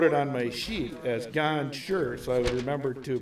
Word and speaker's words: Gonchar: Archibald prior to the game, and I even wrote it on my sheet as Gonchar, so I would remember to pronounce it correctly.